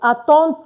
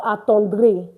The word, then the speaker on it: attendre: Attendre to attend. And of course, it's not attendre because the RE is not pronounced.